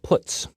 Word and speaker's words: puts: They are pronounced: printf, putchar, and puts.